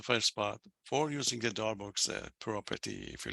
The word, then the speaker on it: Darboux: It's a Darboux. That's it. You can check it on internet for yourself. Darboux, some people say Darboux, which is not true.